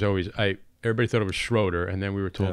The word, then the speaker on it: Schröder: People say Schröder, and it got to a point where my mom came to me and she was like, why are they always saying it wrong?